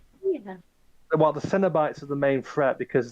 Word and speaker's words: Cenobites: Has anyone ever made a joke at how Cinnabite sounds like a cinnamon-based cereal? it's not pronounced like cinema. It's pronounced like it's CEN, not CIN. It's Cenobites or whatever.